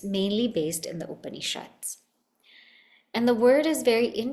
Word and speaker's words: Upanishad: mainly based in the Upanishads. And the word is very interesting because it tells us what it does. And it can be broken down in 3 syllables. Upanishad.